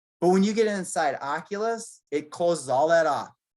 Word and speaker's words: Oculus: um well that's so is it ocula or oculus oculus how do you spell